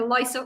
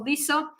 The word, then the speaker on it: LISA: antenna it's an acronym depends on who you ask it's pronounced either Lysa or Lisa so um Lisa is